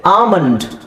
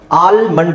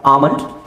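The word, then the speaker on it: almond: ನಿಮಗೆ ಸೋ ಇದ ಏನಿದೆ ಆಮಂಡ್ ಆಲ್ಮಂಡ್ ಅಂತ ಹೇಳಲ್ಲ ಆಮಂಡ್ ಬಾಮ್ behalf calf com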